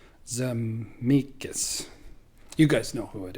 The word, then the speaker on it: Zemeckis: The director is Robert Zemeckis. I think I just mispronounced that. Zemeckis.